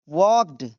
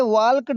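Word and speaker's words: walked: Rohan वॉक्ड इसे वॉल्क्ड नहीं पढ़ेंगे। यहां पर एल साइलेंट है।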